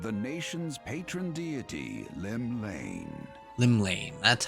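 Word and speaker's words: Llymlaen: Limlane, that's how you pronounce it.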